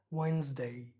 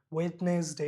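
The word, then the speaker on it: Wednesday: খেয়াল করতে হবে এখানে ডিটা, ডি কিন্তু আমাদের সাইলেন্ট থাকতেছে, ঠিক আছে? ওয়েনসডে, ওয়েনসডে, ওয়েনসডে। ওয়েডনেসডে হবে না, নর্মালি যদি বলি ওয়েডনেসডে, ওয়েডনেসডে হবে না, ওয়েনস, জ, জ, ওয়েনসডে, ওয়েনসডে।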